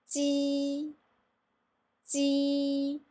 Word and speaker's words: ji: So when I'm going to pronounce this one, you can see my shape of my mouth. I'm going to more like make it wide of the shape, like that.